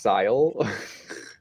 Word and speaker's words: Syl: And Syl is pronounced Sile.